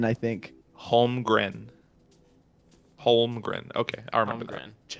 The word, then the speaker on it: Holmgren: Holmgren? Holmgren. Yeah. That's an Yeah, N it's or a an M weird at the last end. name. It's an N, I think. Holmgren.